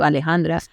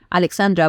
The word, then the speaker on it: Alejandra: do you pronounce that like Alejandra like a l e j a n d r a Alejandra or you can just do Alexandra but just exchange the